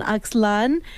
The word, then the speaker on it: Axlan: And anyway, I have known Axlan, Yanes.